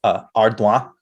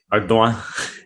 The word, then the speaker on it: Ardoin: I prefer to pronounce it the French way, Ardoin. Ardoin. Yeah. All right, I like it. It'd be Silas Ardoin.